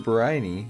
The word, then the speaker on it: Briny: Briny, yep, that's how you say it.